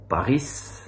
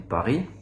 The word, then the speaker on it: Paris: et pourtant en français dans la plupart des mots on prononce pas la dernière lettre comme Paris on dit pas Paris on dit Paris ouais et euh une